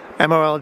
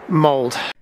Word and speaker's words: Molde: offend anybody it's just the Norwegian lady in the quap tell me here it's pronounced mold did the the Norwegian